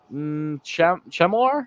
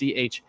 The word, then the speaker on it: Chmelar: Yaroslav Chemelar. I'm pronouncing his name wrong. I'm sure it's Chmelar, and then a Hank Kempf, the defenseman, to finish off the draft.